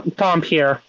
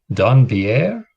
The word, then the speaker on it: dhampir: No, Dompier. He's a Dompier. Don Pierre? No, Dompier. Donkey hair. No, Dompier.